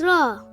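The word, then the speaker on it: راء: r a w raw it sounds like the English alphabet r r for robot raw how to pronounce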